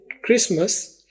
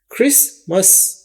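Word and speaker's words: Christmas: एच आर आई एस क्रिस टी यहां पर silent है और यह है एम एस मैस ये क्रिसमस है मस एमस मस क्रिसमस लेकिन सुनने में लगता है जैसे मिस है क्रिसमिस लेकिन क्रिसमिस नहीं होता क्रिसमस होता है क्रिसमस और डिनर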